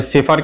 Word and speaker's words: chauffeur: এটা আমাদের মনে হতে পারে অনেকের যে CH আছে, তাহলে সেফার কেন হলো? CH তো চফার হওয়া উচিত ছিল, কিন্তু এর সঠিক উচ্চারণ কি? সেফার।